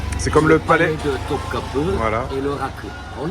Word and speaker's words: Topkapı: ne prend pas de point, et ça se prononce E. c'est comme le palais. de Topkapı Voilà.